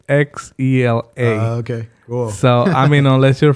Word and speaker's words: Xela: So I know a lot of people get it confused, but the spelling of it's Xela. Okay, cool. So, unless you're from Chihuahua, then you will Right. pronounce it like chela.